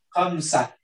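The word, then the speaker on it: خمسة: Khamsah. Khamsah. Itu bacanya khamsah ya.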